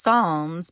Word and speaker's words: Psalms: song for the record it's pronounced Psalms because the p is silent they're a form of